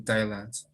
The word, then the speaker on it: Thailand: Jim loves working in Thailand. Exactly. Very correct. You must continue with the gerund. Now, in here, Ray, you have a th, okay? So you pronounce it as silent.